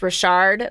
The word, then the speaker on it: Richard: if Richard is a last name it's actually pronounced Rashard like you know there's so many little things